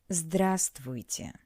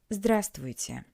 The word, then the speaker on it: Здравствуйте: Remember that in this word we don't pronounce the letter V. Здравствуйте. Здравствуйте.